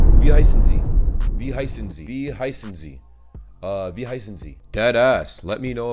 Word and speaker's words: Wie heißen Sie: I keep thinking the W's make the W sound, but you guys pronounce your W's like V. Wie heißen Sie?